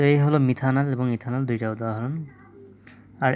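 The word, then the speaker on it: methanal: যেমন মিথানেল সিচ এইচিও এর নাম হচ্ছে কি? এর নাম হচ্ছে মিথানল। অ্যালডিহাইডের যেকোন যৌগকে সবসময় উচ্চারণ করা লাগে নেল দ্বারা।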